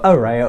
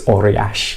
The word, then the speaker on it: Ourea: here or is that he say Ora HQ Ora Ora that'll do yeah slightly different pronunciation for those who speak ancient Greek okay and if we did speak ancient Greek I believe it's orash orash okay well let's